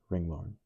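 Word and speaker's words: ringlorn: plus Lauren sorely missing pronounced Ring Lauren.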